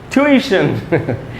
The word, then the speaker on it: tuition: और पढ़ेंगे कैसे, यहाँ आप देख रहे हो दोस्तों, ये जो ई है बड़ी, वहीं पर स्ट्रेस है, तो वहाँ बड़ी ई पर रुकना है हमको।